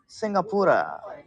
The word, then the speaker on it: Singapura: If you say it in Chinese, it's how you say it. Singapore. It's in Malay, Singapura in Malay. And Tamil is Singapore. In English, Singapore.